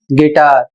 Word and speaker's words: guitar: अगला शब्द है GUITAR और इसे पढ़ा जाएगा गिटार, इसका अर्थ होता है वाद्य यंत्र।